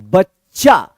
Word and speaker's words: बच्चा: उच्चारण होगा, आधा च, फिर यहां पे च और इसमें आ की मात्रा है, तो इसको क्या पढ़ेंगे, चा पढ़ेंगे। बच्चा, बच्चा नहीं पढ़ेंगे आप, क्या पढ़ेंगे आप, बच्चा पढ़ेंगे।